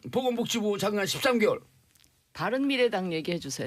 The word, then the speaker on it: 바른미래당: 우리 대한민국의 미래, 국민 여러분의 미래, 우리 바른미래당이 책임지겠습니다. 밤이당. 발음 잘하세요. 밤이당 돼요 잘못하면. 아니 뭐 글자도 몇 개 안 되는데 풀로 불러주세요.